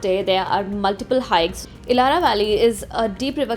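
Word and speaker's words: Ihlara: we are here at ilara Valley which is I think one of the most famous attractions in capparopia I've been pronouncing this place wrong it's called ilara not ilhara sorry about that and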